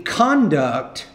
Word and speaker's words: conduct: to say they're the conduct so on that on the down there the conduct of the conductor was inappropriate you want to put stress on the first syllable there she objected to